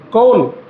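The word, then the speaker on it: کون: ஹம் கோன் high என்ன சொல்லணும் ஹம் கோன் high கோன் கோன் அப்படின்னா கூ அப்படின்னு சொல்லக்கூடாது கான்னும் சொல்லக்கூடாது இதுக்கு அரபில மஜ்ஹூலா உச்சரிக்கிறதுன்னு சொல்லுவாங்க என்ன சொல்லுவாங்க மஜ்ஹூல் அப்படின்னா எப்படி சொல்லணும் கோன் காவும் வரக்கூடாது கூவும் வரக்கூடாது கோன் எப்படி தும் கோன் ஹோ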